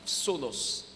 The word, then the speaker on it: phthonos: o n o s mais ça s'écrit ça se lit sonos parce que le pH c'est comme F alléluia dis avec moi